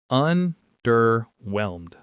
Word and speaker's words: underwhelmed: Underwhelmed. Underwhelmed. The stress is on that last syllable.